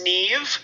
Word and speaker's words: Niamh: um when we decided this was Neve yes Murphy but it's not spelled Neve huh it's not spelled me no it's spelled it's spelled i a m h there'll be a there'll